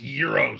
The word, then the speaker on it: gyros: time you had um gyros they're pronounced euros joe and yes i